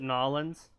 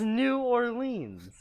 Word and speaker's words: New Orleans: from the south cuz he calls it nollans no he did that out like he said it that way on purpose he was using the correct pronunciation yeah I always and I am using the Yank pronunciation it is New Orleans oh oh that's a